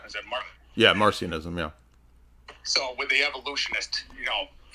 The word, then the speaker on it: Marcionism: Is it Yeah, Marcionism, yeah.